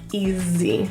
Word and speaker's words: easy: The S in this word, easy, is pronounced as a Z. Easy.